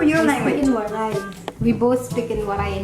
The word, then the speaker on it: Waray: Can you pronounce that word? Waray. Walay. Well, it's Waray. Waray. Walay. Almost.